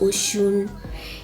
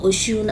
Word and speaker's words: Osun: dudu ocean black soap yes it's pronounced ocean apparently i don't know and the face